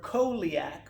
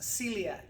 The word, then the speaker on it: celiac: this way it looks like the word coliac or coeliac but it's really pronounced celiac and part of the reason is in old latin they had a letter that was like this instead of just an e if you had this letter it meant the e was pronounced like an s and then we got